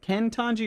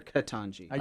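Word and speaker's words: Ketanji: Katanji said is it Ken Tanji or Katanji? You're saying it right.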